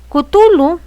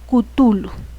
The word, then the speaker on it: Cthulhu: Cthulhu y el descubrimiento de la estatua de Cthulhu, que se descubrió, ¿saben dónde?